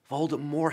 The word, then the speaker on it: Voldemort: Voldemort, silent T. It's supposed to be a silent T according to JK.